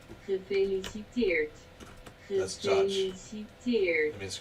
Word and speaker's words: Gefeliciteerd: That's what you're supposed to pronounce the G. Gefeliciteerd.